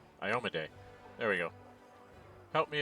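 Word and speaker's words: Iomedae: I can't pronounce her name right. Iomede.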